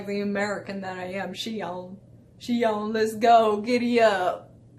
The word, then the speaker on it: Xion: Xion, I'm trying real hard to pronounce her name. Not like I usually do, which is Xion. Like the American that I am, Xion.